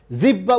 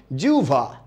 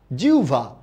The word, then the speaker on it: জিহ্বা: উচ্চারণ করবেন কি আহ্বান জিহ্বা উচ্চারণ করে বাংলাদেশের 99% মানুষ আপনি উচ্চারণ করবেন কি জিউভা জিউভা গভর বিউভল আওভান আল